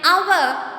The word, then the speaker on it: hour: and before it here H is silent in these words are and honest right